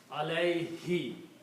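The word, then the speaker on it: عليه: who Al who okay when you pronounce this in t you pronounce this D as a for the T reason so you pronounce Al he not Al okay it's easy to pronounce Al he so even though the word is who but we just pronounce he Al him is upon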